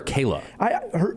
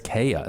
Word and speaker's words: Kaya: So Kayla, is it Kaya or Kayla? It's spelled, I looked it up, as Kaya. I would say that's Kaya then. That's why I how thought he was was saying pronouncing Kayla it.